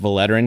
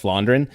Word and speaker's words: Vlaanderen: and it's where the some people will say West Vlaanderen because that's how it's spelled, but it's the V is an F in Flemish, I think. So it's West Vlaanderen.